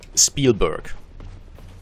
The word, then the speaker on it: Spielberg: which are, funnily enough, supposed to be pronounced in a fairly German manner, because just the language origins are fairly similar. I think it's Yiddish, where a lot of the names come from, and yeah, that's just... that's just how you're meant to pronounce them, like Spielberg, which literally would be German for Play Mountain.